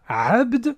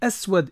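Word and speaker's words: أسود: simplement assouad et oui en arabe noir ça ne se dit pas assez mais aswad et en plus tu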